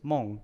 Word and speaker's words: Mon: last name mon it the actual English pronunciation is Meng m-e-n-g but when my dad immigrated here from Taiwan he like phonetically spelled it out so in Chinese it's Mong m-o-n-g but so he wrote